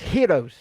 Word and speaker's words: Gyros: I mean yeah or aren't they pronounced Heroes by those who make them isn't that what uh